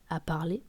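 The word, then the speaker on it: דִּבְּרָה: Et donc maintenant, on va s'intéresser à la phrase elle a parlé qui en hébreu s'écrit comme dévora et se dit divra.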